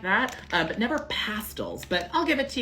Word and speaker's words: Pastilles: Now, I have been told you pronounce this fruit pastels, and which is, if that is true, that is a complete abomination. That is completely unacceptable. You are never allowed to laugh at an American who mispronounces this on the first try, because we would never, ever get pastels out of this.